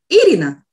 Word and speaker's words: Irina: were pronounced in latvian my name should be pronounced with stressed on the first syllable irina just like i pronounce it irina why don't we give